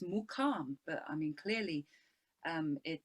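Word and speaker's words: muqam: pronunciation is slightly different so there's the question there in the chat asking if it's makam or mukham so i mean the local term is mukam but i mean clearly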